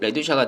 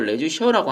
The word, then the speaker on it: 레듀샤: 그래서 요 레듀샤 같은 경우는 20A에 15 레듀샤가 된다라는 거고, 뭐 레듀샤 발음은 레듀샤라고 하는 분들도 있고 레듀셔라고 하는 분들도 있고 뭐 둘 다 맞습니다.